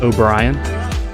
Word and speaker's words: O'Brien: first stream of obta my name is uh O'Brien I am aware that it Rhymes I've had it 27